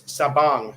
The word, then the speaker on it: Sabang: bryan in sabang sabang it's sabang actually the filipinos pronounce the a with an ah not an a like we do uh good morning jeepers